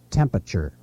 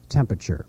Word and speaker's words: temperature: My biggest pet peeve probably in the whole world is temperature. Most news people say temperature.